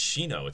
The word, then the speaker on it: Shino: It's Shino. It's like a Japanese name. How does no one not know that the Japanese pronounce their I's as E's? How do people not know this?